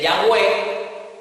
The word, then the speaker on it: Yahweh: El de Yahweh, colocándole las vocales para escuchándolo como ellos lo pronunciaban, le colocamos las vocales, y el otro que es la transliteración de Jehová. Las dos son válidas, las dos son manejadas.